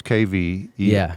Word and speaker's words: Qvevri: So it's So sometimes there's Yeah. a K. It's Kvevri. absolutely. Yeah. It doesn't Yeah, really so- matter, just as yeah. long as there's the K sound, and then Qvevri, Yeah, which uh-huh.